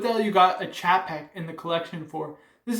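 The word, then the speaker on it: Czapek: Next is this Zapek, or it's actually pronounced Chapek, Quai de Berg, 38.5 millimeters.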